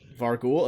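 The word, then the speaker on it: vargouille: Vargoyles. I've never really been sure how to pronounce it, to be honest. I've always heard Vargul. Vargul? Okay, Vargul it is.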